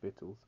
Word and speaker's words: victuals: verse 21 milk scripture and it reads behold vittles it says victuals but apparently it's pronounced vitals shall be so good cheap upon the Earth